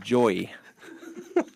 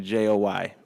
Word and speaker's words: Joy: Mike pronounces her name Joey. Joey. So he has resorted to just saying Joy whenever he's referring to her. And just to be clear, I certainly can pronounce it correctly.